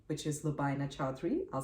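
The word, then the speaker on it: Lubaina Choudhry: net you can also find me on Facebook with my name which is Lina chadri I'll spell that out for you it's l u b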